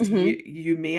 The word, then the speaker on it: Umiya: your journey as the practitioner I feel like yumia yumia it's pronounced yumia and it's spell U Mii y a everyone